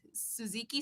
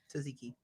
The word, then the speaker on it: Tzatziki: They're really good, and there's fuck, I don't know if I'm gonna pronounce it incorrectly. Suzuki sauce Tzatziki.